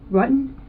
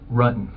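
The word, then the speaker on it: Ruetten: John Rutten? Rutan. The investigators already knew how to say John Rutten's name correctly. The mispronunciation was a simple strategy to see how the suspect would react.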